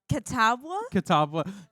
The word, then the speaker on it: Catawba: I believe, if I'm understanding correctly, can you pronounce it for me? The college name. Catawba.